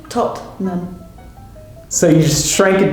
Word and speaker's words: Tottenham: Well, Tottenham. Tottenham. 2 syllables again. Tottenham. So you just shrank it down. So instead Absolutely. of Tottenham, Yes. which is 3, Yes. you just Tottenham. Tottenham. Yeah. Tottenham.